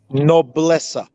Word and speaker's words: Nobleza: i should say it no blessa no bless uh okay yes okay so the z is pronounced as an s oh okay wow okay